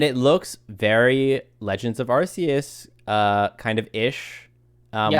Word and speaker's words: Arceus: arceus i think it's arceus i think it's arceus with the hard c the hard c um